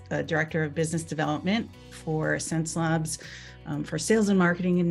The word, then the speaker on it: Xencelabs: So how do you pronounce our name? It's called Xencelabs.